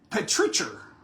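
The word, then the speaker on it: petrichor: Patricher. Patricher? Patricher. Patricher. Yeah. That's how you say it.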